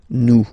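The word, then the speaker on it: nous: o n s for new okay new okay remember final s is not pronounced okay and then this o n together they will give you the sound okay all right let's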